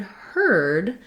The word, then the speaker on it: heard: the um and then the word heard even though it's spelled with the ear that looks like the word ear it also just has the er sound the er vowel and instead of a